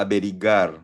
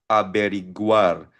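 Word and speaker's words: averiguar: O to find out alamin aiguo ang pronunciation niyan aberiguar hindi siya aberigar no aberiguar.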